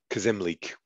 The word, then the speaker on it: Kazimleek: And I'm starting to, but I'm going to pronounce Kazimleek is how I'm going to start pronouncing them now, because I know I've gone between that.